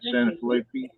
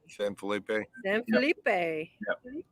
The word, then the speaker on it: San Felipe: guys going to first santa fe i think i say it right santa flippy san felipe that's it that's our first stop